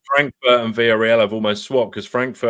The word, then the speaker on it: Villarreal: He's giving it the double R. So Villarreal. That's how it's supposed to be pronounced. You got to do the.